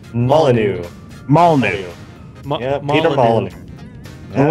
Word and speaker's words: Molyneux: Molyneux.